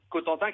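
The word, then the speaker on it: Cowtentin: Cotentin qui s'écrit C-O-W-T-E-N-T-I-N.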